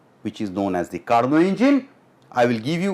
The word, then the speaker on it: Carnot: You can see Nicolas Leonard Sadi Carnot. Carnot is the right pronunciation.